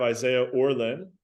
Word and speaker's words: Isaiah Orlen: Today we have Isaiah Orlen. That's how you pronounce it, correct?